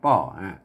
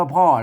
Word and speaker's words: ป้อ: นะ ครับ ได้ ป่อ ป้อ เนี่ย ๆ ไม่ ใช่ อ่าน ว่า พ่อ นะ ครับ อ่าน ว่า ป้อ เ ๆ มัน เป็น